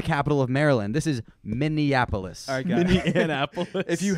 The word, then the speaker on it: Minneapolis: Dan say it again Min Anapolis no it's not Min Anapolis it's Minneapolis that is a small version of the capital of Maryland this is Minneapolis all Min Anapolis if